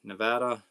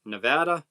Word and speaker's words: Nevada: Nana says, "I'm in Nevada." How do you guys pronounce it?